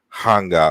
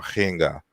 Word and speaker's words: Ankh: And so the root of the word Ankh, we pronounce it as Ankh, but it's more like Hanga or Henga in the ancient Egyptian language.